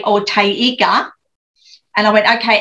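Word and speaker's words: taiga: But then Blair came from out the back and he went, oh, Tayaga. And I went, huh, what? And he said, Tayiga.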